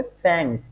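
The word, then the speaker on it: fängt: এটা হবে এফ আমলাউট এন গে এস টি, হ্যাঁ, তাহলে উচ্চারণটা কি হবে? ফ্যাংস। কি? ফ্যাংস। আর এজ এস ফর্মে কি হবে? ফ্যাংট।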